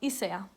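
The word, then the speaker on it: Isager: the company and yeah the G should be pronounced soft so it's like a J sound Isaiah and not a high G just so you know and I got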